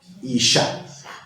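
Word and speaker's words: אשה: Le puso una A al final. Isha. ¿Cierto? Hombre, Ish. Mujer, Isha. Creo que hay una Biblia por ahí de estudio que se llama Isha.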